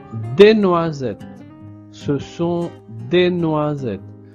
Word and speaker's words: noisettes: Ce sont des noisettes. Donc de nouveau, le S est entre le I et le E. Donc on prononce Z.